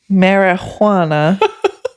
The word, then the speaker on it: marijuana: Cuz I said I put the wrong empasis on the wrong syllable. There is no empasis on the J. Mar, but I marijuana.